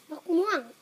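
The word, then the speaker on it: มะม่วง: Muang? Muang. That's how you say it in Thai.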